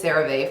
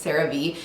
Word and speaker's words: CeraVe: I've been calling this Cerave forever. It's Cerave. This has been in my